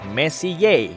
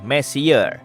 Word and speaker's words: Messier: Diucapkan Messier, bukan Messier, yang artinya lebih berantakan.